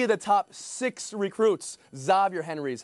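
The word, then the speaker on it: Xavier Henry: Zavier Henry is how he pronounces his name.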